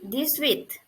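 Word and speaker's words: dix-huit: is 18 18 in french it would be this width this width this width 18 this width this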